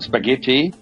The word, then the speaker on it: spaghetti: are silent yeah Y and spaghetti okay spag the H is silent and Knuckles Knuckles on